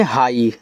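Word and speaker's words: high: आगे है एच आई जी एच। इसे पढ़ते हैं हाई। हाई और काफी स्टूडेंट इसको नहीं पढ़ पाते तो ध्यान से देख लेना एच आई जी एच को हाई पढ़ते हैं।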